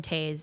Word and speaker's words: Toews: Jonathan Toews. It's spelled like toes.